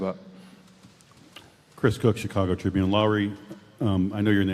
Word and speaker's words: Lauri: Is it Lauri? How do you pronounce the name?